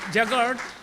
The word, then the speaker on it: jugaad: Again, in India, they have something, a beautiful term called jugaad. I don't know how to pronounce.